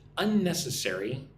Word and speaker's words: unnecessary: We need to cut unnecessary expenses this quarter. Cut unnecessary expenses. Look at the word unnecessary. 5 syllables. Unnecessary.